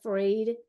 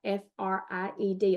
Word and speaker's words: Fried: Kelly I you can email Eva Freed. Eva Eva. F R I E D.